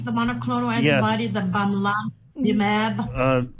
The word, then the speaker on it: bamlanivimab: The bamlanivimab. Lillian, it's bamlanivimab.